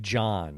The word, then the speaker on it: Jahn: His name is Mike John, it's spelled Jahn, and he wrote at